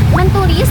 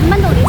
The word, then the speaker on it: menulis: Mentulis bukan dibaca mentulis tetapi menulis karena huruf N tetap menjadi N karena dipengaruhi huruf P.